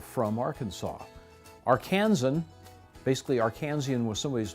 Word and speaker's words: Arkansas: by the historical society of the state of arkansas and the eclectic society of little rock which have agreed upon the correct pronunciation as derived from history and the early